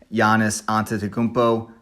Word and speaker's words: Giannis Antetokounmpo: but today we're talking about the nba's mvp giannis antetokounmpo that's right i know how to say it